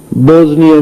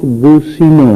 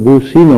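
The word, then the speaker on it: بوسنیا: منصر المسلمین فی البوزنیا، حالانکہ وہ ملک بوسینا ہے، اسلامی ملک ہے، بوسینا اس کا نام ہے. انگریزوں نے اپنے اس تلفظ سے بوسینا کو بکار کر بوزنیا کر دیا. تو مولانا دعا عربی میں مانگ رہے تھے، ممبر پر بیٹھے، لیکن اسے بوزنی کہے جا رہے تھے عربی میں بھی، حالانکہ وہ بوسینا لفظ ہے.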